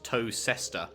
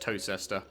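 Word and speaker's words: Towcester: england today that are spelt like toaster is spelt toe sester but it's pronounced toe sister and yeah even right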